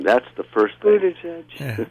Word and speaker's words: Buttigieg: Buttigieg. Yeah, Buttigieg. Yeah. Think of boot, and JPEG.